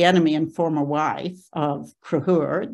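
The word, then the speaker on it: Conchobar: And she was the enemy and former wife of Cruhur. That's how you pronounce that rather difficult looking word there. That's Cruhur Mac Nessa, who is the king of Ulster.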